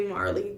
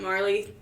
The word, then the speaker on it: Marle: I say Marley cuz it's just M A R L E.